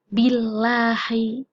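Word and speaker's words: بِاللَّهِ: Cara bacanya meringis. Billahi, nggak boleh bacanya yang tebal. Billahi, nggak boleh begitu bacanya, tapi harus meringis karena ini adalah lam tarkik, bukan lam tafkhim.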